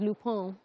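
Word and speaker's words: Lupin: series it's spelled l-u-p-i-n I thought it was Luke Bean but apparently it's loophone someone was outside of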